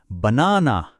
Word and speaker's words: banana: banana. That extra power on na is the word stress.